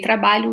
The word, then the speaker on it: trabalho: if you want to teach you how to say trabalho, we normally say tra, tra, tra, ba, ba, lho, lho.